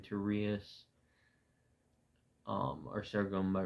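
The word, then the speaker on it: Rias: seen it on Instagram my name is pronounced rius um r i a s um I know there's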